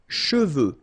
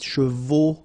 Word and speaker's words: cheveux: Usually this one is a bit of a problem because some of the students normally pronounce it chevaux, okay? So try to keep in mind that you get E-U here.